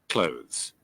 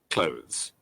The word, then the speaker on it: clothes: الكلمة اللفظ مثل كلمة قريب close. سمعيها شلون حتلفظ. clothes, clothes, clothes, clothes, clothes, clothes, clothes, clothes, clothes, clothes.